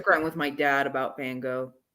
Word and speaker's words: Van Gogh: I still have an axe to grind with my dad about Van Gogh. Well, really, it's Van Gogh. Mm-hmm. But I'm gonna be that English speaking person and say I don't really like that pronunciation.